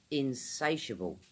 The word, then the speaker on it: insatiable: They kept on eating" That's insatiable 4 syllables in-sey-shuh-buhl, insatiable Third example "Like all